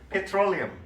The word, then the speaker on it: petroleum: 근데 석유라는 말이 petroleum 그렇게 발음합니다.